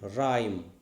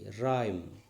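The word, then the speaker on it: rhyme: r-h you know r-h the h is silent rime r-h-m-e rime r-h-t-h-m rhythm in w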